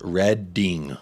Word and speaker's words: Reading: Al PES Patel Jacob it's pronounced reding reading all right I